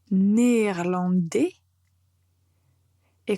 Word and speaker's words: néerlandaise: Et comme c'est la même chose que français, au féminin, on va dire néerlandaise. Donc, il faut bien prononcer cette dernière consonne pour voir la différence entre le masculin et le féminin.